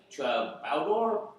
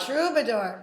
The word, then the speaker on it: Troubadour: 20th san francisco great american music hall and to baldor probably pronounced it wrong west hollywood california that's a baldor we care a lot troubadour troubadour thank you boys caroline was officially released